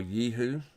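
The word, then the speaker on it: Jehu: book of Kings about king jihu or yeehoo to give it the pronounced correct um the correct pronunciation um which I'll no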